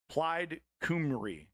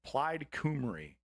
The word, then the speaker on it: Plaid Cymru: Plaid Cymru is how it's said anyway. Plaid Cymru.